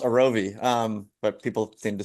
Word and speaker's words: Arovy: And so for those that don't know um Arovi Orovi, Aravi, it's actually pronounced Arovi. Um but people seem to struggle with the name. So Arovi, pronounce how it's spelled.